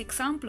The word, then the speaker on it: Eixample: E niente, comunque come avete visto siamo andati a fare un giro per l'Eixample, che si pronuncia così, io pensavo si pronunciasse Eixample, ma invece non è così.